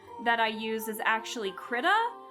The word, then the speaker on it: Krita: And then the art software that I use is actually Krita. I think that's how it's pronounced. I hear people say Krita or Krita. It's like, I think it's Krita, Krita, and it's a lot to deal with.